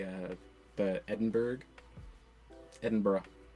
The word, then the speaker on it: Edinburgh: You know how you uh you know how you how you say uh the Edinburg Edinburgh. Edinburgh. Edinburgh. Edinburgh.